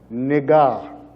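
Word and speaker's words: נגע: Actually, this word is spelled with the nun, the gamel, and the ayin. And it's pronounced nigah.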